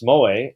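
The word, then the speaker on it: Mooij: introduction from this came from talking with hans moay m-o-o-i-j hard name to pronounce a very distinguished professor of uh of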